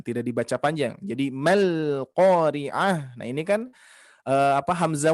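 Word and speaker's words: القارعة: Yang harusnya dibaca mal, tapi ini menjadi mal qari'ah ya. Seperti itu. Ini sama di huruf ha kan ya. Karena ada sebagian para pembaca Al-Qur'an yang membacanya al-qari'at, mal qari'at menjadi huruf ta ya. Hati-hati.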